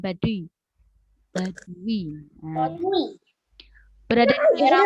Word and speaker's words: Baduy: Bacanya Baduy, bukan Baduy.